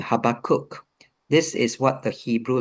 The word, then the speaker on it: Habakkuk: Uh the B is actually a V sound and that would be the same for Abraham.